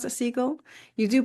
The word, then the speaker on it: Segal: So, we should name your So, your Laurel, do you do you pronounce a seagull? You do pronounce a seagull.